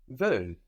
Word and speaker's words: veulent: They want is ils or elles veulent. This is spelled V-E-U-L-E-N-T. Ils veulent. Ils veulent. So we have an L there, no? An L. We hear an L on the end there.